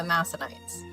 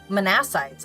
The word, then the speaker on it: Manassites: the halftribe of the Masanites. So, sorry, Manites. Manassites, I think, is actually how it's pronounced.